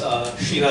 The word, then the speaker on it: Kshira: My name is Kshira. Sometimes I forget the name myself, so the K is silent, and there's a lot of complications after that.